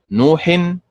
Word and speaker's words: نوح: كذلك كلمة نوح، نوح النبر فيها على حركة النون فتنطق هكذا نوح فعل ولا تنطق نوح فعل وهكذا.